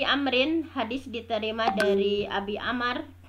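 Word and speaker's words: عمرو: Nah, di sini an Abi Amrin, hadis diterima dari Abi Amr. Kalau ada wawu ini dibacanya Amr, kalau tidak ada wawu dibacanya Umar.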